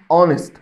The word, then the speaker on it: honest: هنا كلمة اسمها honest، وده صوت متحرك، وطالما هو صوت متحرك فلازم تاخد an، فلازم اقول سامي is an honest man.